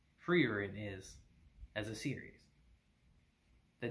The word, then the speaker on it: Frieren: I will make that mistake constantly throughout this video, but her name is pronounced Frieren.